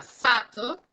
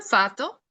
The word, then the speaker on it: fato: Ahí está, fato significa destino, ¿ok? Así escrito, fato, y si lo notan, no lo estoy pronunciando tan fuerte, fato, significa destino.